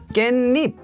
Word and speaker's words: 깻잎: This one is pronounced as 깻잎. Now this 시옷 is actually what's known as a 사이시옷, and I have a video about that on my channel if you're curious, but this word is 깻잎. So it's a combination of this part with this part, therefore this E here becomes 니.